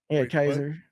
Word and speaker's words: Caesar: Kaiser. Spelled like Caesar.